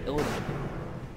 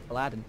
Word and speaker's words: Illidan: Yeah, Illidan. That's what his name is, Illidan. Aladdin. Nobody said Aladdin, man. Very different pronunciations in English. Attack. Aladdin, not Illidan. Yes.